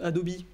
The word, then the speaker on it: Adobe: toute la compatibilité c'est le cas il ya adobe hadopi oui prononcé halle anglaise qui en train de travailler